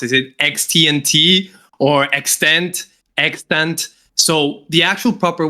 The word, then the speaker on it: EXTNT: Is it extent? Extent. So, the actual proper way you should spell it is extant.